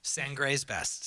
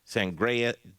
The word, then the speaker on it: Sangre's Best: Did I say it right? Sangre's best. I actually did. Sangre's best. Boy, it took me so long. I was like, Sangreas. I don't know why I was so, but Sangre's best.